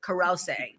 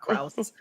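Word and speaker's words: Krause: Bobby Nash is played by Peter Karouse. That's how you say his name. It's not Krauss, but he's from Parenthood from Six Feet Under.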